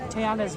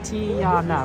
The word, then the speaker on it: Tiana: but the problem is Tiana is three syllables right Tiana right three Tiana Mountain oh but